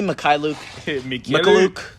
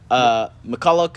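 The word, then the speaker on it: Mykhailiuk: It's Svi Mikhailuk. McCulloch. McLaughlin. Like, they went everywhere.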